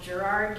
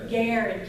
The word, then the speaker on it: Garrard: only name like yesterday I said something about Gerard County they're like no that's Garrard County Hari I'm worried I'm